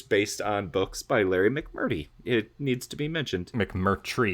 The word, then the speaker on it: McMurtry: I don't trust your pronunciation anymore after the Killian incident. No, you got to check it out. It's McMurtry.